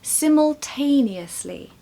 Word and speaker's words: simultaneously: number three simultaneously simultaneously here we have a longer word and therefore a bit trickier to pronounced look at all those letters and all those syllables the first two syllables are simol siml and then we have the stressed sound siml t siml t